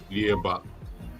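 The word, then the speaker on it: Yhwach: Yawat. Yawat? Yeah. Is that really how you pronounce it?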